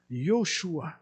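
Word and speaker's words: Yeshua: Yoshua. Parce que le J, nous, en français, on le prononce, mais en hébreu, ça sonne comme un Y.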